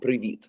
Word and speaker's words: привіт: Привет is Russian. In Ukrainian, it would be привіт.